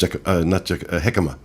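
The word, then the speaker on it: jícama: How's it pronounced? Jicama.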